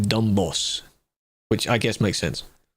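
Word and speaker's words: Dombås: The AI summary says you basically pronounce it like dumb boss, which I guess makes sense.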